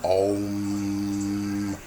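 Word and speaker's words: Aum: You have Om, some pronounce it O-M, Om. Then you have A-U-M, pronounced Om.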